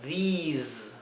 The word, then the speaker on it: these: También these se pronuncia con una I larga, these, y al final es una S como un zumbido, z, ¿sí? No es la S suave.